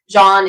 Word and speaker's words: Jean: that it's important according as in jean-luc picard john is the proper pronunciation so i am